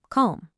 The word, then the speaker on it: comb: On the left, if M is followed by B, the B is silent. Bomb, climb, comb.